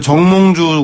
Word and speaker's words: 정몽주: 네, 정몽주 같은 충신도 아니고 박근혜 대통령 발음을 정확하게 해주십시오.